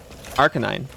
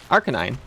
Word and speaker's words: Arcanine: One of those freaks that pronounces that big dog as Arcanine. Arkan9. That's how I say it. Arcanine. Yeah. Arcanine. How else would How else would you say it? Because it's an arcane canine.